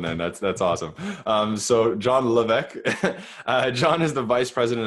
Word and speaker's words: Levesque: Is it like French, like Levesque? That is the most like francophone way I've heard it in a long time.